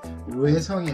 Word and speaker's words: 뇌성: 레일이 아니라 내일, 로인이 아니라 노인, 뇌성이 아니라 되게 힘들죠. 뇌성, 루각이 아니라 누각, 릉묘가 아니라 능묘입니다. 그러니까 지금 들어보시면은 발음을 할 수 없는 건 아니에요.